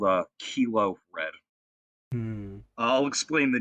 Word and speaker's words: Kylo: going on here no the name kylo oh oh it's pronounced kilo i'm sorry i was